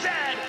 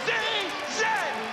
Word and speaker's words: zed: is a coach and it is pronounced Zed not z z Canada is the second